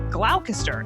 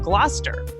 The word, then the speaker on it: Gloucester: Shakespeare was writing, I often mispronounced some of the words that you find in the plays. Like originally, I said glalcaster instead of Gloucester.